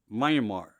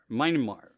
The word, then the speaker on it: Myanmar: help me so um to pronounce it right i think it's myanmar myanmar um part of asia